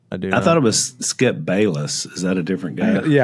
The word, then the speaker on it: Bayless: Skip Bailey. Because I was thinking, who cares what Skip Bailey thinks? And then I thought, oh, he meant Skip Bayless.